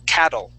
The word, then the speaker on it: cattle: in most cases class the double t will always sound like a d okay so instead of saying cattle we would say cattle cattle okay very good